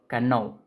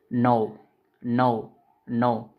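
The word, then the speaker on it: know: एक एग्जांपल देता हूं नो के एन ओ W okay कैनो कैनो ऐसा नहीं बोलना है नो नो नो इसमें के साइलेंट होता है।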